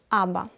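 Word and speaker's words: אבא: Читается има. Ну и, конечно, здесь нам нужно вспомнить слово папа. Аба.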